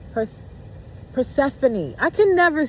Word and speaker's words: Persephone: Persephanie? Perse- Persephone.